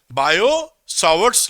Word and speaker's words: Biot-Savart: तो अब मैं वो जो बायो सावर्ट लॉ था, इसका नाम क्या बोलते हैं, टी साइलेंट होता है, बायो सावर्ट्स लॉ।